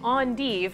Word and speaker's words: endive: Over here, this is endive, or if you're fancy, you can pronounce it endive, and actually both are acceptable, so say whatever one you like more.